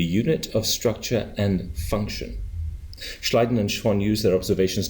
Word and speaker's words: Schleiden: go on in 1839 German biologist Matias J schleiden no that's pronounced correctly oh good thank you Matias J